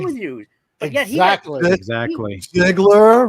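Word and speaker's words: Zegler: Ziegler rhymes with. I'll just leave it right there. Tickler.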